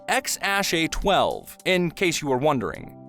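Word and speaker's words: X Æ A-12: by the name of which is pronounced X Ash a12 in case you were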